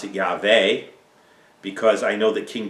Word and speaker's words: Yahweh: I don't know most your versions will say Yahweh if I was going to pronounce that name at all in Hebrew I pronounce it yaver because I know that King David was not